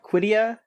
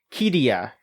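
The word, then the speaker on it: Qiddiya: Q I D I Y A KIA Quidia. It's um the big Saudi Arabian city Kia.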